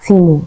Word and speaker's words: Temu: Some people call it Temu, but it's pronounced Timo.